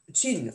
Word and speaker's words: Qin: Vous savez que ce mot Qin, on le prononce Qin, est cette dynastie du